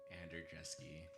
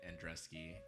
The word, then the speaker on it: Andrjeski: me I have the honor of representing Derek Ander dreski for a long time I've been pronouncing it andreski and I just was told today that that's